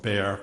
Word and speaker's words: Bexar: In 1981, I became chief medical examiner of Bexar County, Texas. And for the transcriber, Bexar is spelled B-E-X-A-R, the X is silent.